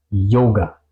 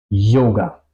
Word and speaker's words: Yoga: Aquí suena un poco más como una J, yoga, yoga, ¿ok?